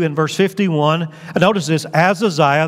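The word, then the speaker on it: Ahaziah: Here it says, chapter 22 and verse 51, notice this, Azaziah, the H is silent, Azaziah, the son of Ahab,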